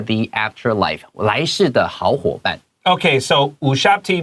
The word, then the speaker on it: Ushabti: afterlife 來世的好夥伴 OK, so 烏殺不提 Be careful 這個U 不是 like You YouTube It sounds more like Moon的 U sound 烏殺不提 All right That B is a little bit 輕輕的沒錯所以我們的這個副標題就寫到說塔尼斯 Tannis